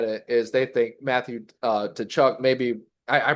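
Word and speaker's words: Tkachuk: So, anyways, the reason why they had it is they think Matthew to Chuck maybe I pronounce how do you pronounce that, Jake? Kachuk, Yeah, Tutchuk or Kachuk, Kachuk. Okay.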